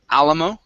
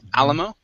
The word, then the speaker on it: Alamo: have this word here that's pronounced Alamo the stress is at the very beginning Alamo Alamo good um uh